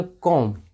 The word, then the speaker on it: comb: ये देखिए COMB, यहाँ पे भी एम के बाद बी आ रहा है, तो यहाँ पे भी बी साइलेंट है आपको, तो इसको पढ़ेंगे कॉम्ब। कॉम्ब नहीं, कितने लोग कॉम्ब पढ़ते हैं, जिनको नहीं पता होता है, तो इसको पढ़ेंगे कॉम्ब। कॉम्ब मतलब कंघी।